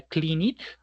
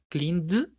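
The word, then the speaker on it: cleaned: ¿Será clean it? Cleind o clint. ¿Cuál será de los tres? piénselo. Si dijo cleind con D de dedo, sonido de D de dedo, lo hizo bien.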